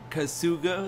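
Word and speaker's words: Kasuga: and food depending on actions these traits represent kazuga is how you say his name as a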